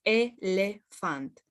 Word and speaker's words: elefant: For example, if we have the word elefant, which is elephant, we will never ever pronounce it with a Y. It's elefant. The E sound is very well pronounced without adding anything to it.